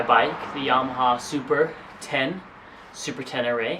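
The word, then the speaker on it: Super Ténéré: the yamaha super 10 super 10 array i think is how it's pronounced um we first are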